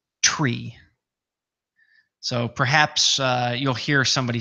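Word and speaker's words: three: The number 3, the official phraseology for the number 3 in the world of aviation is, or the official pronunciation I should say, is tree.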